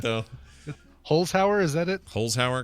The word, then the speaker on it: Holzhauer: Holzhauer, because the Z comes before the H.